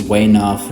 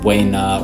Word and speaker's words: weigh enough: Weigh enough. The command weigh enough, often pronounced way enough, way na, or I've heard way off.